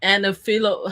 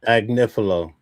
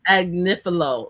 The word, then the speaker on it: Agnifilo: Anifilo. How do you pronounce his last name? Agnifilo. Agnifilo. That's the main lawyer for Diddy that everybody said that got Diddy off, which he did not.